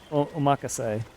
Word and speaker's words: omakase: I'm gonna have a really nice, expensive sushi dinner, omakase, which is how you actually pronounce it, by the way.